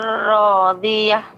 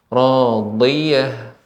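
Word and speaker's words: راضية: Fahuwa fi 'ishatir radiyah. Nah, ya, huruf dot Ibu. Dotnya lebih ditampakkan lagi, yaitu bagian tepi lidah mengenai gigi geraham atas. Radiyah.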